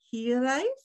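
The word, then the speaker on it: hiraeth: long field you introduced the welsh concept of healing absolutely kind of yeah i said it right you roll that r in here right here which loosely translated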